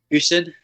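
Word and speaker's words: Gosen: was quite big into, I think it's Goosen it's pronounced. So then that was probably my first proper racket after the Slazenger. What was it called? The Goosen, did you say? Goosen, yeah.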